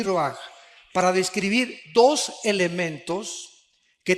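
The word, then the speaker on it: ruach: Aquí se usa otra palabra hebrea que es se escribe roach con R de Raúl A. Se pronuncia roaj. Por ejemplo, cuando hablamos del Espíritu Santo, el Espíritu Santo es roaj, el cadosh.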